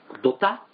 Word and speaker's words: 土田: のお母ちゃんがドダドタドタあドタご土田って書いてねなんであれドタって読むんだろうなんですか